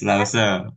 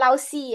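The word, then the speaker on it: 老师: La lause Yes Lause. Yes. Lause jangan Lausi ya bukan lausi. Lause kan si h bacanya sh ya.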